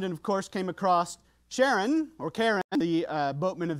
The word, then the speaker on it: Charon: But in planetary sciences, we try and honor Jim's discovery, and so we try and pronounce it Charon with the soft SH, which is what he wanted.